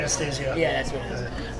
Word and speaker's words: Anastasio: How do you pronounce his last Trey name? Anastasio.